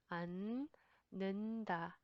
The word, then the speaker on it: 않는다: 안 has double 받침 there. Only the first 받침 makes sound. The second 받침 is silent. 않는다.